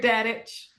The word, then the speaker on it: Dadich: How do you pronounce it? Godfrey? Godfrey Dadich.